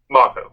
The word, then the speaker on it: Mako: We're focusing mostly on the first 4, with the late Mako. Yep. How do you pronounce his name? Mako.